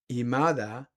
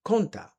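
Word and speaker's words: 今田: That family name, Imada, could also be pronounced as Konta. Konta was a family name that he was born with up north in Yamagata prefecture. Down here in the Kanto area, he used a different reading, Imada.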